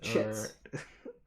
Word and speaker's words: chit: Dane, do you know what a chit is? Am I pronouncing it correctly? Is it pronounced kit? Is it Chits. Okay.